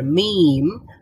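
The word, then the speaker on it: ميم: লাম বলেন লাম লাম আর মিম মিম উচ্চারণ করার জন্য আমাদের কিছুই লাগবে না মি এটাতে মূল সাউন্ডটা হচ্ছে ম আর ম উচ্চারণ করতে তো দুইটা ঠোঁট দরকার হয় ম বা মিম মিম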